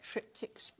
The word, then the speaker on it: triptych: And you know, like we were saying about triptychs. Am I saying it right? Triptych. Yeah. I want to keep saying titch.